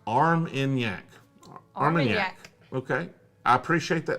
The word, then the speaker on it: Armagnac: Armagnac is pronounced Armagnac.